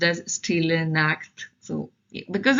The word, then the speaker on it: Stille Nacht: So Stille Nacht, yeah, it's pronounced as Stille Nacht.